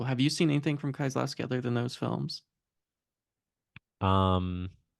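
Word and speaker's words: Kieślowski: different than what we watched this week, which of course was I'm gonna say his last name wrong. Is it you say it? Like Kozlowski? Kieslowski? Kieslowski.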